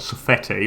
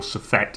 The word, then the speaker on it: Suffete: It's not Suffete or Suffet. It's Suffet.